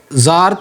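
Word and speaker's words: Tsar: वॉर यहां पर जो जार था रशिया का वो रूल कर रहा था टी एसए आर टी यहां पर साइलेंट है एंड जो पावर सीज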